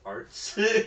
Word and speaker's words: Arts: Like, I think you're are you pronouncing it AR plus S? Like, yeah, it's actually a T. It's arts.